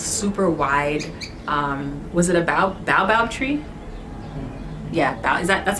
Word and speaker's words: baobab: huge, gigantic, old, super wide, was it a baobab tree? Yeah, that's how you pronounce it, right? Yeah, baobab tree.